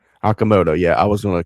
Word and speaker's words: Okamoto: Okamoto. Aamoto. Yeah, I was going to completely butcher that. Yeah, Okamoto.